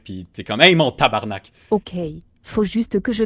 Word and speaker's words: tabarnak: devienne méchant très méchant tabarnak c'est parfait s'est pas fait c'est l'erreur qui font souvent les français c'est de dire tabernacle faut vraiment mal le prononcer non mais jamais entendu